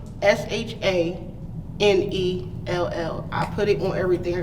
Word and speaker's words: Shanell: What is the correct pronunciation of your name? Shanell. Shanell, okay. Has it ever been mispronounced? Yes. What have you got? I knew it one time. I got Shanell, Chantel, Shanell. Right. Let's see. Sherelle.